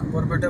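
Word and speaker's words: Barpeta: খুলাচ্ছিল না গাড়িতে গা ঘুলায় না আমার তো বরপেটা 52 কিলোমিটার ঘন্টা বরপেটা রোড ববা পেটা বর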